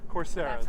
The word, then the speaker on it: Coursera: which we are uh there's a it's called course ra or coursera or something like that right uh-huh it's a website coursera that's how they pronounce it coursera it's a website that gives